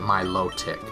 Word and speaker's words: Milotic: pronounce it and then 61 of the people who voted said they pronounce it my low tick otherwise the other the